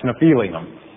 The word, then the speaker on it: Nephilim: and fro on Earth the sons of God are Nephilim or if you prefer to pronounce nephelium the fallen angels and